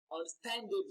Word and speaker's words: understandable: So when you get to where you have stand, you can see that your pitch or the pitch of your voice increases and the duration of pronouncing that syllable takes longer than every other syllable.